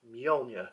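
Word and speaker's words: Mjölnir: So yeah, copper Mjolnir, and that is the correct pronunciation for it as well.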